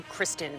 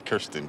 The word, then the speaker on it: Kirsten: both names are tricky how often people call you Kristen Gillibrand a lot oh I know huh that's Kirsten Gillibrand Kirsten oh my goodness and